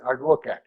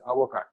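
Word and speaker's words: Advocaat: Literally, it's called as advocat, right? But it's pronounced as avocat, A-D-O-C-A-A-T, avocat.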